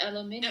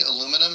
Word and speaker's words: aluminium: So, they they they read aluminum and they pronounce it aluminium. Yeah, it's a whole extra syllable, isn't it?